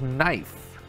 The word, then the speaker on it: knife: Number 24 is knife. This word starts with a K, but it's pronounced with an N sound.